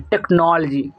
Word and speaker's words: technology: लेकिन अगर बोलेंगे कि टेक्नोलॉजी, यानी थोड़ा सा स्पीड में यहाँ पे आपको स्ट्रेस देना है, टेक्नोलॉजी टेक्नोलॉजी, इस तरह से इसे हम प्रोनाउंस करते हैं।